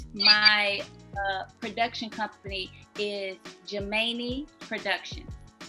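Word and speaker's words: Geminae: that means twin so it's kind of like gemini but it's spelled um instead of the extra i is the a e at the end so g-e-m-i-n-a-e i i remember that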